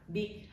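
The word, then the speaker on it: Bich: La madre de Jennifer Pan, Vic Ha Pan, la verdad es que se escribe B-I-C-H, o sea, Bitch Ha Pan, pero cuando yo estuve leyendo decía ahí que se pronunciaba Vic, entonces lo voy a decir así.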